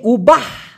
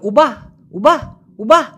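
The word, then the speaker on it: ubah: ইয়েস ভাইজান, উবাটা হচ্ছে Malaysian শব্দ, কিন্তু একটু আগে যেমনটা বললাম শব্দের শেষের যে অক্ষরটা ওরা প্রায় সময় অস্পষ্ট করে উচ্চারণ করে বিধায় এই উবাহ, দেখেন উচ্চারণটা শুনেন তো একবার, একটু নিজের মুখে উচ্চারণ করেন প্লিজ।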